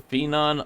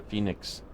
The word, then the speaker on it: Phenom: That is the Phenom 100, or Phoenix. No, I mean Phenom, sorry. I finally said it right, and then I said it wrong.